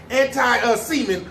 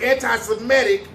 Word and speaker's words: anti-Semitic: want to make sure i said it right anti-semen but no it's anti-semitic statements they saying he a holocaust hater come